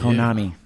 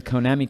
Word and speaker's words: Konami: Konami. I pronounce it Konami.